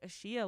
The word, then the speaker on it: Ashia: people were like saying, oh my gosh, like Ashia, like they were pronouncing my name correctly.